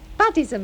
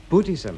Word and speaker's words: Buddhism: With that Buddhism of yours. Buddhism, Mum. I told you it's pronounced Buddhism.